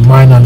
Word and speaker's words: Minun: Minun, I was pronouncing it. Minun is the correct way now.